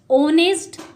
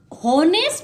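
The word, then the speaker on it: honest: जैसे ऑनेस्ट, honourable या are words हैं, ये स्टार्ट तो एच से हो रहे हैं लेकिन हम इन्हें हॉनेस्ट नहीं बोलते, हॉनरेबल नहीं बोलते, हावर नहीं बोलते, यहाँ पर एच साइलेंट है, हम इसे ऑनेस्ट बोलते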